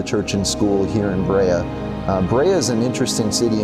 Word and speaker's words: Brea: first heard about it I didn't even know that you pronounced it Brea I thought maybe it was Bria but the more I